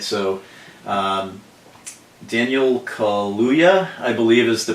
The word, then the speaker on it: Daniel Kaluuya: All right, so Daniel Kaluuya, I believe is the pronunciation of his name, is the guy who